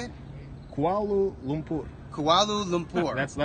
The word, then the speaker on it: Kuala Lumpur: Kuala Lumpur.